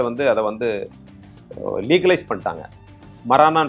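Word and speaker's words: marijuana: அதை வந்து லீகலைஸ் பண்ணிட்டாங்க மரானான்னு சொல்லுவாங்க நம்ம ஊர்ல மரிஜுவானான்னு சொல்றோம் இல்லையா அதனுடைய உண்மையான உச்சரிப்பு வந்து மரானா அது வந்து ஒரு மெடிசினல்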